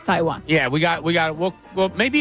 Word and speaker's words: Taiwan: It's how he pronounced Taiwan. But just like the country. He does it Tawan. It's Taiwan.